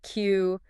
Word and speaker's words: queue: Q defined as a line of people, cars, and so on waiting for something. Five letters, one sound, and four of them are completely redundant.